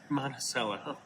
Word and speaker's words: Monticello: If you are ever in, is it pronounced Monticello? It's pronounced Monticello.